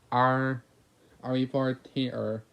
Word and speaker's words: Eerie Fortimer: SpongeBob slowly read the name tag out loud, and to give you an easy idea how to pronounce it, it sounds like Ari Fortimer.